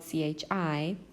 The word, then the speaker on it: chi: Okay, for this lesson, we'll be covering chi-square tests, and it's pronounced chi, even though it's spelled chi, and it's written as this capital Greek letter X.